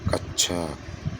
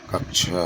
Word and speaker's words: कक्षा: वाला ऑप्शन अगला प्रश्न कक्षा शब्द का शुद्ध उच्चारण कच्छ कक्ष कक्षा कक्षा तो यह शुद्ध उच्चारण क्योंकि छ जो बनता है वह किसके मिलते किस-किस से मिलकर बनता है?